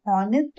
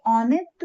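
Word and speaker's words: honest: X ray और एन FDO remember silent H यू एन यहां जैसे हमने लिखा आवर लेकिन लिखते हैं एच ओ यू आर लेकिन हम इनको प्रोनाउंस क्या करते हैं आवर यानी ओ यू आर को प्रोनाउंस करते हैं और लिखते हैं एच एच ओ यू आर इसमें हम हनेस्ट मैन ना बोल के ऑनेस्ट मैन बोलते हैं और हियर ना बोल के एयर बोलते हैं।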